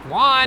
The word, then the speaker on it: Juan: his his and and he pronounced it jewin because he was making fun of how the british pronounced juan which is jewish every